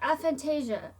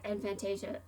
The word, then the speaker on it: aphantasia: heard it pronounced okay pronounce it i have a fantasia that's my initial that's my initial reaction was to say i have infantation now why is this